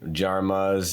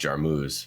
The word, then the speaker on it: Jarmuz: is uh jarmas so jarmas it's just short uh it's actually probably pronounced jarmus but uh it's been jarma's my whole life growing up in Arizona